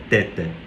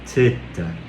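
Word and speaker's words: θῆτα: É teta. É o, é como se você tivesse a língua presa mesmo. Não é t, não é teta, teta seta, seta. É bem bem suave.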